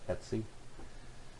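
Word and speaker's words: /etc: under the etc' directory and that's pronounced Etsy so this will have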